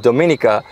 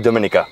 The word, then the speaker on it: Dominica: So from my understanding, he called it Dominica. Yes. Because in Latin, it was discovered on a Sunday. On a Sunday. So in Spanish it's Domingo, in Italian it's Dominica. Right. So Latin Dominica.